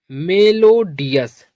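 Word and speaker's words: melodious: तो यह हो जाएगा मेलोडियस।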